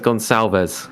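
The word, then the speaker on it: Gonçalves: and but but now I think it's gone salz cuz it's so we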